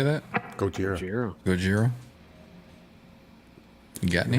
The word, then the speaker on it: Gojira: Gojira.